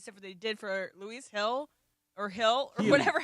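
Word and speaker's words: Gil: Heel.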